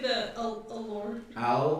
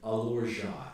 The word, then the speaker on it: Alorja: Wait, did you say the allure? It's pronounced Alorja, AL'ORJA.